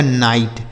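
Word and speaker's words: knight: आगे लिखा है के एन आई जी एस टी से पढ़ा जाएगा नाइट।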